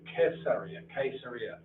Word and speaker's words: Caesarea: Now moving north along the coast of Israel from Tel Aviv, this is, well, Caesarea, the proper pronunciation is Caesarea, named after Kaiser or Caesar.